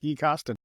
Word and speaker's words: Gui Costin: Gui, Gui, I say it right, Gui Costin. You got it, Gui Costin.